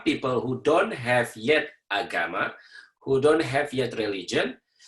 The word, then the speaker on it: agama: In Indonesia, the term that Indonesian use comes from a Sanskrit term, an Indian language term, Sanskrit, agama. Agama, A-G-A-M-A, so that's how you pronounce it, agama.